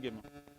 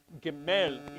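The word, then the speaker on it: גימל: Let's begin Gimel. Gimel, literally. Technically, Gimel. Because remember that the emphasis is on the emphasis is on the final syllable almost always.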